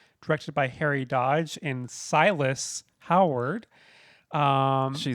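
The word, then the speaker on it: Silas: Came out in 2001, directed by Harry Dodge and Silus Howard. Um, she's making fun of me. I didn't know how to pronounce silus.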